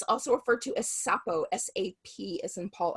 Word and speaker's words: Sapo: And, like you said, so Kambo, some people pronounce it Kambo, Kambo. It's also referred to as Sapo, S-A-P as in Paul O, Sapo.